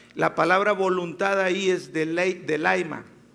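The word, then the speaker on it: θέλημα: Fíjate, la palabra en voluntad en griego es telema, pero se pronuncia, bueno, yo no pronuncio bien el griego, pero lo voy a intentar, siempre me sale mal. Delaima. Telema se escriba, telema.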